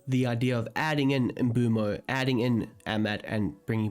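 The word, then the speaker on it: Mbeumo: Is it pronounced Mbumo? Mbemo? I do like the sound of Mbemo, but I naturally just call him Mbumo.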